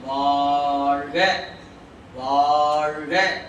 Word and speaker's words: வாழ்க: அப்ப நீங்க என்ன பண்ண வாழ்க வாழ்க, இந்த வாவை கொஞ்சம் நீட்டணும், நீட்டித்தான் சொல்லணும். மற்ற இடங்கள் அப்படி சொல்லக்கூடாது.